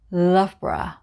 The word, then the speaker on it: Loughborough: marlborough 125 we have love bra love bra love bra again it's a borah sound so we just say loughborough love bra the names